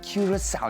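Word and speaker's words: Curaçao: Tropica, Island of Treasure, Curacao. And you've got to say it like that. You've got to draw it out.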